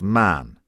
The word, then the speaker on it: Mahon: He had a Roman nose, a snow-white long beard, and his name was Mahon. But he insisted that it should be pronounced Man.